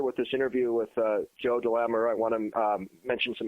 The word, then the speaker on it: DeLamielleure: Joe DeLamielleure, as I mentioned earlier, was inducted to DeLamielleure. DeLamielleure. It rhymes with Cavalier.